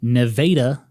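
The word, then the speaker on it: Nevada: __ ] yes which is near present day Neva Missouri uhuh yes it is pronounced that way population today 8,000 fun fact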